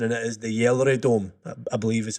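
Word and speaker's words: GelreDome: I've looked at the pronunciation and it is the Yellery Dome, I believe is how you pronounce it, funnily enough. Because of course a G is pronounced like a Y.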